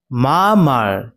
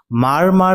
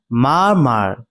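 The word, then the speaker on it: murmur: মা মার এটা উচ্চারণ বিশেষভাবে লক্ষ্য রাখবে। এটাকে কিন্তু মারমার বলে উচ্চারণ করবে না। এটা উচ্চারণ হবে মা মার।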